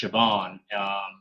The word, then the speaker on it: Siobhan: It's pronounced Siobhan.